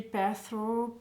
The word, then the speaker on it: Perthro: Donc on dit Pertho, Pertho, Perth. Voilà, ça dépend comment on prononce ça.